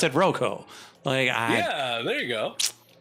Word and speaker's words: Roko: then we pronounce it Roko.